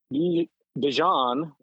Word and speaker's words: Bijan: I mean, you know, Algier and Bijan is how it's apparently properly pronounced. Bijan, yeah.